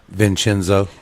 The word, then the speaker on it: Vincenzo: Vincenzo.